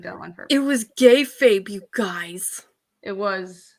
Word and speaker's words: kayfabe: It was kayfabe, you guys. It was kayfabe, everybody. So pronounce that right?